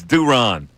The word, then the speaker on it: Duran: According to the Phillies press release, it's Duron.